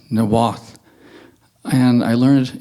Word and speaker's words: Niwot: we're on Arapaho Avenue, and I live in Niwot, which is actually pronounced Nawath, and I learned it's pronounced Nawath from Ava Hamilton.